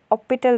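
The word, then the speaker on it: hôpital: का यूज़ करते हैं, जैसे कि हॉस्पिटल, तो अब हम इसे ऑपिटल पढ़ेंगे।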